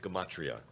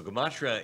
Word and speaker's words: gematria: Gematria is, it sounds a little bit like the word, what word does it sound like? It sounds like the word in English. Geometry. It sounds like geometry, right?